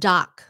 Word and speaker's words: doc: How about short form doc and dog? Doc. Hey, doc. And dog. It shouldn't sound the same. One is a C and the other one's a G sound.